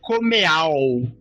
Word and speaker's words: Comeau: putz é o Josh comeau ah Josh com é como se fosse como Como que pronúncia fiquei decepcionado com a pronúncia é como se fosse é francês né isso exato Pronto já